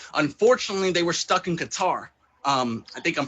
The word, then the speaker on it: Qatar: Unfortunately, they were stuck in Qatar. I think I'm pronouncing that right. Qatar, yes.